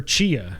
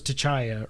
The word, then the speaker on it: Chia: Then we got a trailer for Chia, which is how you say that. I did not know, but I thought it was T'Challa or something, T'Challa, whatever, but it's just Chia, like a chia pet.